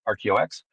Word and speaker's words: RKEO-X: company called RKOX ROX it's phonetically it's ROX and we do humanitarian